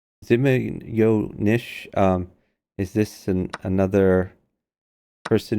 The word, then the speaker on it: Zmeenish: advice from zarov here says Nish zimma yo Nish where is the Y come from oh is it it is apparently little snake in Russia so Zim yo Nish um is this another